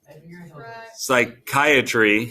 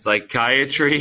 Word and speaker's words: psychiatry: open okay website title psychiatry it's Psychiatry advisor yeah so Psychiatry is one of those words that pronounces differently than what it looks like right the p is silent okay so psychiatry advisor